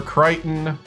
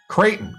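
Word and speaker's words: Creighton: So, Dayton Flyers or Kiteon? Dayton Flyers or Kiteon Blue Jays? Kraton Kraton.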